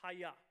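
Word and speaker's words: הָיָה: that's Hebrew that is the term for the phrase to be pronounced hiya okay this you can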